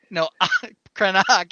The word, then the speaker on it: Krennic: Krennic if you use the original Coruscanti pronunciation.